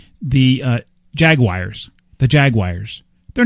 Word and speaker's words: Jaguar: pronounces that word differently it's a Jaguar it's not a flag wire well that's what I say too but I've heard all kinds of well elicits the car that's a Jaguar yeah but yeah Jaguar